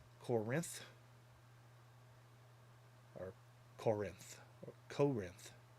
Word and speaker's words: Corinth: They put emphasis on the Rinth. Corinth, or Corinth, or Corinth. Corinth.